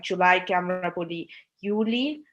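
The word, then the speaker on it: Juli: For example, জুলাইকে আমরা বলি ইউলি, জুনকে আমরা বলি ইউনি, বা অগস্টকে আমরা বলি আউগস্ট।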